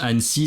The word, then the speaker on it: Annecy: s'appelle ansy voilà ansy donc on prononce ansy ça s'écrit plutôt comme ani mais je pense que